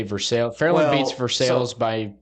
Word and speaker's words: Versailles: The Treaty of Versailles is spelled the same way, so I didn't know. But you say Versailles.